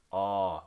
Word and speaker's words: o: And the example that we will use for our unit here is the vowel O, English O, pronounced as aw, as in the word aw, which means swollen in Hmong.